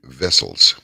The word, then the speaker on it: Wessels: And last night we had on, it's spelled TEWIEWESSELS, but it's actually Tievi. It's not Tiwi. It's Tievi Vessels.